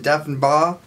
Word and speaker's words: Deffenbaugh: Jordan Deffenbaugh. Thanks for being here. That's how it's pronounced.